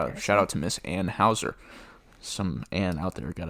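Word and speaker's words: Anheuser: e r uh so it's Anne Houser shout out to Miss Anne Houser some an out there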